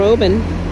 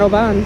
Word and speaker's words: Oban: Live from Obin, not Oban.